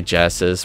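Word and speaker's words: Genisys: did with terminat genisis or they they say Genesis but it's pronounced it's like spelled differently and so I always like jokingly say genisis uh they redesign the T800 a little bit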